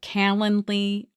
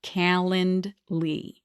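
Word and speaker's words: Calendly: So using a software program like Kalanley, I'm going to spell that. It's C A L E N D L Y. Kalandly.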